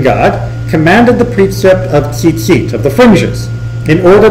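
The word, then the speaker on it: ציצית: We pronounce it tzitzit. There's a chilik, there's the e vowel under that first taf, but the second yud doesn't appear in the Torah.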